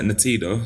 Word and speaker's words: Ntiedo: Natido, so it's spelled Ntiedo.